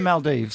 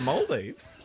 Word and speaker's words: Maldives: here it's actually the it's actually the Maldives so not the Maldives Sor for the green spr plug greay plug okay what is it the moldes there we go not we learning some